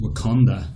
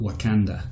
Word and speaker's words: Wakanda: Yeah, and he pronounces Wakanda the same way I do, which is Wakanda, not Wakanda.